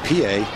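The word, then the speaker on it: Pie: the real solid right fielders especially throwing and Pa has excellent tools playing Left Field young rolls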